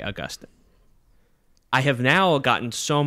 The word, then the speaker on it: Augustine: things on the feed you will hear me call him st augustine and i have never gotten more listener feedback about anything than people contacting me to tell me that i said it wrong so much so that i had already recorded episode one and i went and re-recorded every bit where i said augustine's name to then say augustine i have now gotten